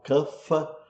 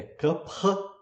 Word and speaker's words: Kapha: E Kapha, atenção, Kapha não é pronunciado Kapha, como se pronuncia em geral no Brasil, está errado falar Kapha, né? É Kapha, né?